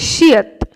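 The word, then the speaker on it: 시옷: ওকে, next সেটা হচ্ছে শিয়ত। শিয়ত কখনো শ এর মতো উচ্চারণ হয়, আবার কিছু কিছু ক্ষেত্রে ত এর মতো উচ্চারণ হয়।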